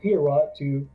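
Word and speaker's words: Heorot: use the lens of hero to you know stab him and take them out you go what are you talking about I don't know what that is pronounce the name's pronounced herot yeah I've been saying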